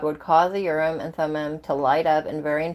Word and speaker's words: Thummim: See if I can get it to pronounce it for me. Oh, Thummim.